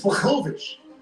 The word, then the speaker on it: Blachowicz: 42 is the age for Jan Blachowicz. Some people can't say his name. It's Blachowicz.